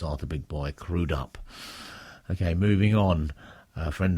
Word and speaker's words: Crudup: always thought it was by Arthur big boy crudup but I've been reliably informed by Cliff mcnight that the correct pronunciation is crudup so from now on it's arur big boy crudup okay moving on a friend of mine Bill